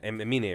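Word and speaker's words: Aminé: Or Amine, right? That's how you pronounce it? Yeah, Amine.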